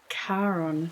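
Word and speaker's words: Charon: that feels very uh I think it's pronounced Kon not ch you know the Greek the Greek guy yeah it is very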